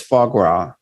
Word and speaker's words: foie gras: probably like flash grass or something but it's foie gras fog for foie gras it's goose liver and